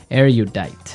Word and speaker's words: erudite: Erudite. Erudite. Okay, so this word erudite, some people pronounce it erudite.